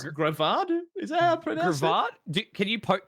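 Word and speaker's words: Greavard: __ ] thing um graveyard grayvard kind of a play on graveyard but it's gravado is that can you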